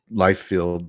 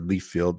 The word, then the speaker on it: Liefeld: Jim Lee, Todd McFarlane, uh, even Rob Liefeld or Leafield, however you want to pronounce it.